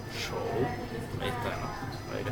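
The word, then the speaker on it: 手: Hemos visto el carácter de mano, cómo se pronuncia mano en chino. Muy bien. Show. Ahí está, ¿no? Ahí lo estoy colocando en pantalla. Show.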